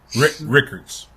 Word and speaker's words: Rickards: But Brown was actually from Rikers High School in Tallahassee. Hold on, T. Rickards. Yeah. We gotta pronounce.